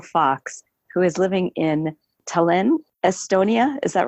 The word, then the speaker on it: Tallinn: my friend Bill Fox who is living in Tallinn Estonia is that right did I pronounce it correctly that's correct sir Tallinn Estonia